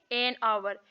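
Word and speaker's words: hour: एन उसे करते हैं जैसे अवर अब हा वी तो नहीं है लेकिन ओवर हा साइलेंट है तो ओवर सो ये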